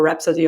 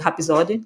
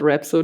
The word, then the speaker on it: Rhapsody: And to this day, I can't call Rhapsody or Rhapsody of Fire Rhapsody because we would just call it Hapisode, and that's it.